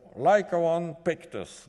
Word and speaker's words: Lycaon pictus: This animal is the Lycaon pictus. I had to say it like that. Yes, I say it correctly.